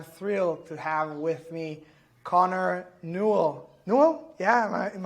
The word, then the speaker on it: Connor Newell: Today I'm thrilled to have with me Connor Newell. New? Yeah. Am I Am I pronouncing it correctly?